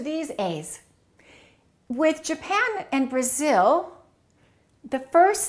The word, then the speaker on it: Brazil: What do we say? Brazil. I am from Brazil. No, this is no longer a. It's uh Brazil. Brazil.